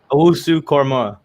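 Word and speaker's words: Owusu-Koramoah: Owusu Korma.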